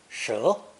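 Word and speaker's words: 蛇: snake or a serpent, pronounced second tone, shi, shi.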